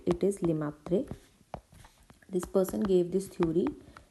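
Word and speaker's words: Lemaître: If I am pronouncing it right, it is Lemaitre.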